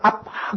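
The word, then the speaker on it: אבא: 우리 성경은 아바라고 번역이 되어 있는데 유태 발음으로는 실제로 아빠입니다. 우리하고 똑같습니다. 제가 이스라엘에 갔을 때 누가 뒤에서 아빠 그래요.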